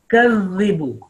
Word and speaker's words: يُكَذِّبُ: Make your face flat and smiling when you pronounce this Zal, and your tip of tongue is touching your upper two teeth.